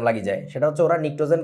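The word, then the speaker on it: pnictogen: ওর expectation থাকে এরকম নিক্টোজেন ও যাইয়া দেখবে স্পেলিংটা এরকম সামনে একটা পি আছে ওতো এটা পড়তে য বলবে পিনিটোজেন পিনিকে উঠে যাবে এটা পিনিকের কিছু নাই এখানে পিটা হচ্ছে সাইলেন্ট সথিং পিনিটোজেন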